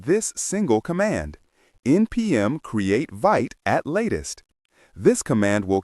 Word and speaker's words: Vite: Today, the officially recommended tool for starting a new react project is vit pronounced vit.